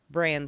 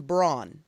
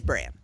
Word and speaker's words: Bran: of thrones is it sam tarly jon snow bran stark or hodor and i have to ask my husband calls him braun if i've been pronouncing it incorrectly all this time it's bran it is bran okay my husband calls him brawn for some